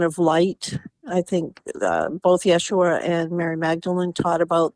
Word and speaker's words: Yeshua: But first of all, Yeshua I mean, I understand that is like the Aramaic pronunciation of the person we call Jesus.